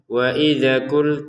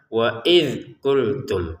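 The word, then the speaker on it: وإذ: Di sini yang perlu dijelaskan ada zal sukun lagi ya. Pada video yang sebelumnya juga ada sudah dijelaskan di situ tentang zal sukun. Jangan dipantulkan. Sekali lagi jangan dipantulkan. Jadi jangan dibaca waid waidza. Nah, waidza jangan sampai ini dipantulkan. Cukup tidak usah. Waidzultum seperti itu ya.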